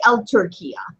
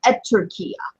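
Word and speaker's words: التركية: take you don't say L turquia you say editor kiya turquia the reason is because top is a son letter ok so you don't say L turquia that's protect mispronounced it's at turquia ok but it's still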